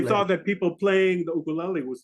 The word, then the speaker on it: ukulele: Ukulele. That's the right pronunciation. It should be ukulele. Ukulele. Ukulele. Ukulele. Lele. L-E-L-E. Lele. Lele. So uku is a flea. Uku is the flea, and lele is dancing.